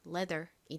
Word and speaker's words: leather: 되겠죠 레 끝에은 the 소리 나죠 그래서이 단어를 발음해 보면 leather이 됩니다 lea 따라해 보세요 leather leather 좋습니다 레의